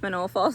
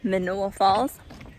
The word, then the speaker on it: Manoa: Um it's Manoa Falls. I just had to think about that. I keep on saying it wrong. Um Manoa Falls.